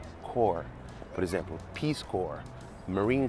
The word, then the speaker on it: Corps: Ela escreve corpse, mas não se pronuncia desse jeito. É core, core.